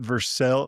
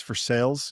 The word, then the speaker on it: Versailles: Just like here in Kentucky, it's not Versel. Versailles. It's for sales, you know.